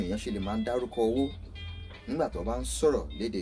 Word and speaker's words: owó: fi te omo araye lorun to ba doro owo iyen lo fa to fi je pe owo la ma joro loni a ma so nipa bi awon eyan se le ma daruko owo nigba to ba nsoro lede Yorùbá.